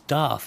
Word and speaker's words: Daith: it's Day thought it's Darth isn't it as in like Darth Vader you're absolutely right yeah